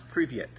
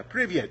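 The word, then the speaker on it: привет: Now, the word for hello in Russian is privyet, and here's how it's spelled.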